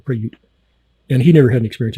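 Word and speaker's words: Prayut: be UT like that it's pronounced preut emphasis on the second syllable preut and he never hadn't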